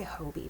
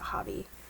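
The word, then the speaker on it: Hobbii: And this is the I always want to say Hobie, but I think they pronounce it Hobby.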